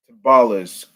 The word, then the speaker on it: timbales: No, Tim Timbales, band leader to date. Timbales. That's how you pronounce it.